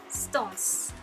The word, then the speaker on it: SixTONES: japanese boy band named six stones or stones because i have been reading comments about that that the correct pronunciation of their group name is stones so let me know